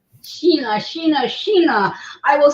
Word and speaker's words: Shana: My name is spelled like Sheena, but it's spelled like Shana, but it's pronounced Sheena. Sheena, Sheena, Sheena.